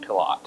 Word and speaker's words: Pilote: speaker tonight is pilote am I pronouncing your name wrong pilot pilot okay thank you this event